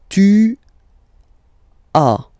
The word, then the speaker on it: tu as: Tu as. Okay? As usual in French, final S is not pronounced.